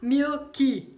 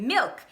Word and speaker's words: milk: to two words and saying the L in MILK as an "u" sound. So there's only one syllable in the work MILK in English In Portuguese there are two syllables in the word for MILK: LEI-TE So then when we want to say MILK we add a syllable making the mistake MIU-KI* and you can't do that, it's MILK, it's a one syllable word in English and with these types of words.